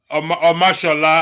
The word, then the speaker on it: Omashola: Stay with Omasala. Stay with Omashola, I know that one. That is Omashola. I can pronounce.